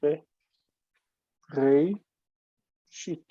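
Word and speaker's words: בראשית: Aleph has no value. It's nothing. Hmm. You have to represent it in transcription. But it's nothing. The Aleph is just sitting there. It even doesn't count as closing the syllable. It's nothing. The syllable is long and unaccented. So we would say be, re, shit.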